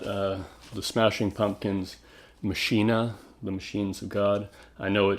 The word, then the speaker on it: Machina: Smashing Pumpkins machinae the machines of God I know it should be pronounced Makana but Billy Corgan himself pronounces it machine so I'll stick with that have to give respect